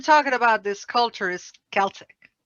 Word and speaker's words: Celtic: simple like you said the difference between celtic and celtic you know one is that the celtic cultural continuum has the word has always been pronounced with a hard cut sound but the football team from scotland is celtic and i don't know why